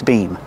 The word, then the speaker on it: beam: And we use a long E sound like green beans.